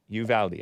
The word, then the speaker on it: Uvalde: uh they call it called lakey but it spelled like leaky leafy for about a decade so that's you've aldi uvalde okay nice appreciation um so juneteenth like i